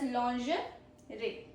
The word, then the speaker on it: lingerie: Then is lingerie. Lingerie. Lingerie. Not lingerie. Lingerie. Meaning delicate women's undergarments. It's a delicate women's undergarments known as lingerie. Pro tip. French origin, very silent G. Very silent G. Lingerie. Lingerie.